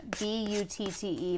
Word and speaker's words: Butte: B U T T E Montana. Butte?